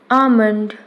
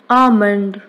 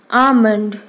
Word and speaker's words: almond: Next word, almond. Friends, L is silent here, so we have to say almond. Almond, not almond.